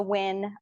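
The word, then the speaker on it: Nguyen: my name's Dr win uh n guu ye n but it's pronounced win like let's win chemistry that's my YouTube handle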